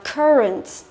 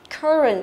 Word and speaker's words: current: Thế đọc theo kiểu gì thì trong âm vẫn là âm thứ nhất nhá.